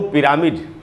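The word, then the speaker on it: pyramid: ये देखिए पी में जो ई है उसी पर स्ट्रेस है, तो फी र के बाद आधा है, फिर, और उसके बाद है मिड, पिरामिड।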